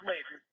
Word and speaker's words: Layden: It's Layden. But some people pronounce it Laden, but we say Layden.